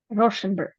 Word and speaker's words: Rauschenberg: Yeah, how do you correctly pronounce the name of the first painter? Rauschenberg.